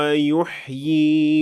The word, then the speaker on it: يحيي: So we pronounced 2 times ya, and the latter one is extended for 2 counts. يحيي ويميت. The second variation has only 1 ya, and so it is the only one that you should pronounce when you keep on reading.